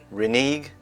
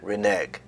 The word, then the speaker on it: renege: heard of it before but apparently there are three different ways of pronouncing this word renege renege renege renege now I like this